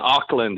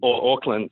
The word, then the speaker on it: Auckland: New Zealand but yeah Auckland is how you guys pronounce it so I'm from Auckland or Auckland how how we pronounce it it's New Zealand's largest